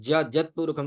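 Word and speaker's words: यत् पुरुषम्: यदुहु जी यकारच में जत पुरखम क्योंकि यकार आदि में है। यदि आदि में यकार होता है पद के तो उसको क्या यकार को ज उच्चारण करते हैं।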